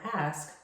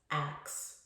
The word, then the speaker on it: ask: Oftentimes I hear the word ask pronounced as ax. It's very important that when you are pronouncing the word ask you are enunciating the S-K and not substituting the S-K with an X. You want to ask a question, not ax a question.